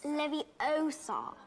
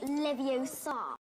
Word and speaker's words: Leviosa: Besides, you're saying it wrong. It's Leviosa, not Leviosa. Ron, being the young man